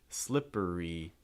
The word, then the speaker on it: slippery: slippery slope for pronunciation just a quick note slippery you want to be careful with this because as a mix of the short eye the first syllable slip and then it has that long eye e slippery slippery slippery slope